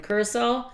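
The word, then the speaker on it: Curaçao: We just experienced that in Curacao.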